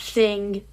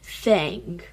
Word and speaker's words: Thang: Not thing, thang. Spelled with an A, not an I.